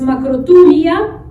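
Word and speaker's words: μακροθυμία: Entonces, la antigua palabra griega para paciencia es macrothumia se pronuncia, y del griego significa resistencia al mal, sin acciones vengativas.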